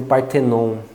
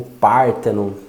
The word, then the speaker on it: Parthenon: Eu criei um método, que é o que eu chamo de método Parthenon, ou Parthenon, depende aí de como a gente vai pronunciar.